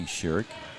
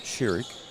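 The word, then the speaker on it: Shirek: that pass there was Shurik Laney Sherik. At least that's how they told me to pronounce it. Shurik. Sh H I R E K. They told me to pronounce it Sherik.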